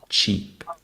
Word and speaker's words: cheap: between each word first we have cheap with a CH sound and a long e sound cheap next we have chip